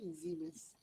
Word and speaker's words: Siemens: Kalau dia adalah bahasa, dia bahasa apa Siemens ni? Dia bahasa, saya pun tak tahu bahasa apa. Tapi kalau pronunciation ni Siemens. Macam ada Z sikit.